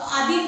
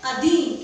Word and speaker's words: अधीन: तो कुछ आपके अशुद्धियां हैं, जैसे अशुद्ध उच्चारण बोला, आधीन बोल दिया हमने, तो आधीन गलत है। क्या होगा ये? अधीन। क्या होगा? अधीन।